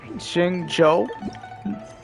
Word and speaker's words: Xingqiu: So that's how you pronounce his name, Xingqiu.